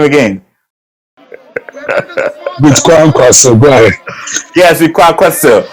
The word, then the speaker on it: Kwankwaso: How do you pronounce his name again? With Kwankwaso, go ahead.